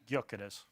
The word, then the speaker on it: Gyökeres: Gyökeres. Gyökeres. Swedish? Like, if I saw that, I'd never say it was Swedish. I'd be like Greek or Eastern European. But listen, hey, listen. Gyökeres must be the direct replacement for Man City